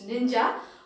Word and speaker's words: ninja: same name isn't it so the same pronunciation even in japanese which is ninja who's a japanese ford